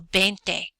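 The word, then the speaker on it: veinte: 20 is pronounced B it starts with a V but it's pronounced with a B sound so bente and just like with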